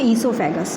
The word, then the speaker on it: oesophagus: कर रहा है इसकी टोटल इसे हम बोलेंगे इसोफैगस थे फूड पाइप कोई बोला जाता है इस सौंफ खसखस और साइलेंट होता है यहां पर और का प्रकाशन